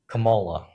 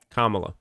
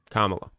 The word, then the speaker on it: Kamala: Camala. Kamala. Kamala. Kamala.